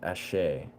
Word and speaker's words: Asé: Ashe is pronounced Ashe.